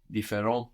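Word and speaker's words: différents: adjective as well no defer has an S on the end but we don't hear it T and S are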